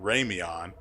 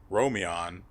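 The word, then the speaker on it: Romlyn: his name is because i remember i've mistakenly pronounced it raymeon only to find out later that i've done it wrong and it's actually r-o-m-i-o-n so romeon we took it to have we took it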